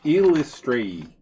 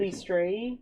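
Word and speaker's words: Eilistraee: Oh, it's Illustrae. I see the actual pronunciation. Illustrae. Illustrae. Well, that's a mouthful. Illustrae. Because Trey is the accent.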